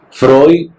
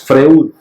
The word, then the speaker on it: Freud: Smith así no suena Exactamente igual a como suena en inglés Freud lo lo decimos así en español no decimos Freud Tratamos de guardar la